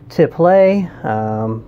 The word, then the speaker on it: tiple: this is a martin tipple i've also heard it pronounced to play but uh most of the time i hear it called tipple so that's what i'm gonna go with um so what this